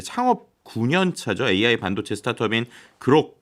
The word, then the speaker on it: Groq: AI 반도체 스타트업인 그록 뭐 그 우리나라 발음으로 약간 뭐 똑같긴 하지만 그로크에 가까울 것 같습니다. Q로 끝나니까.